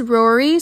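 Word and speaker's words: Rorai: For example, one's name is Brylen, but it's spelled B-A-R-Y-L-E-E-N. Or there's Rory, spelled R-O-R-A-I.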